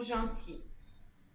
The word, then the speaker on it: gentils: Le S final ne se prononce pas, c'est pour ça. Ils sont gentils.